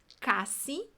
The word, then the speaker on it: casi: Mas olha como é que a pronúncia é bem diferente. Casi e quase.